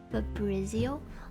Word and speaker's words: Fabrizio: Okay, so I'm Fabrizio. It's actually, well, the American pronounce it Fabrizio, but I actually like it Fabrizio because it's Italian.